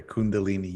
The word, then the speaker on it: kundalini: yoga a lot what is kundalini did i pronounce it right yep okay kundalini yoga yeah so i did yoga for years